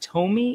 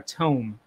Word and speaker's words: Tome: use a program called, I don't know if it's pronounced Tome or Tome, but it's spelled T-O-M-E.